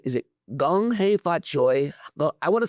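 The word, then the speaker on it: 恭喜發財: Gong hei fat choi.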